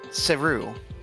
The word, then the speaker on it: Cerue: Game never mentions her name, but in its files, this Geeg's sprite is labeled Cerue. That is spelled C-E-R-U-E, keeping the naming convention of Geeg's names ending in U-E, like New and Geeg.